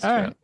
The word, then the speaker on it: Trouw: It's a Dutch last name originally, but my my dad's from South Africa, so it's um the African pronunciation is true.